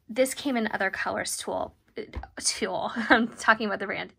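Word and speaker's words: TUL: So Tool is spelled T-U-L, and they make a line of notebooks and now planners too, I believe.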